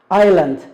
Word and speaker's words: island: in the middle of, island. The S here is silent, don't pronounce it, jump, lake, and luckily.